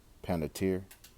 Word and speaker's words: Panettiere: Panettiere, which she wasn't, I didn't grow up on